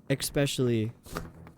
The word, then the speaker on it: especially: There's There's no K sound in there, especially.